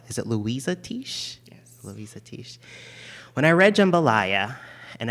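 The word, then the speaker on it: Luisah Teish: a debate of how her name is actually pronounced, the author of Jambalaya. Is it Louisa Tish? Yes. Louisa Tish.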